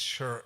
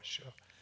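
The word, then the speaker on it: 士: pronounced shi, S-H-I, and the Chinese would pronounce this shur, S-H-I-H, shur.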